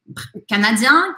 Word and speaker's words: canadien: Então, no masculino, eu só faço a voz anasalada. No feminino, eu pronuncio o N. Canadien, canadienne.